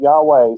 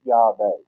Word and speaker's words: Yahweh: The closest we can come is Yahweh. Not Yahweh, certainly not Jehovah, but Yahweh.